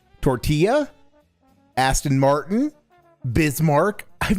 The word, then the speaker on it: Aston Martin: Not not Aston Martin. It's Aston Martin.